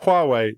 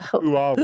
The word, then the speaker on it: Huawei: Communist Party for inadvertently slating Huawei? or I think the British government have done that enough, haven't they? Like, Sorry, which company? Huawei. The Chinese Communist Party. You mean What? Huawei, not who are we?